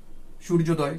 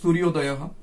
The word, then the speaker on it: সূর্যোদয়ঃ: সন্ধি হয়েছে, সূর্য উদয় সূর্যোদয় সূর্যোদয়ঃ, আমাদের সঠিক উচ্চারণ করতে হবে সূর্যোদয়, আমরা বাংলায় উচ্চারণ হবে সূর্যোদয় কিন্তু সংস্কৃত উচ্চারণ হবে সূর্যোদয়ঃ, সূর্যোদয়ঃ, হ মানে হচ্ছে বিসর্গের উচ্চারণটা হয়ে হয়।